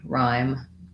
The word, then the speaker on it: rhyme: so in this case the y letter y says the i diphthong and the h is silent so looking at it just one syllable word we have the i diphthong and the m sound rhyme i often suggest you